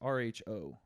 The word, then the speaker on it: Rho: little bit of reading here how do you pronounce the name on that it's rho that row row I mean it's that seems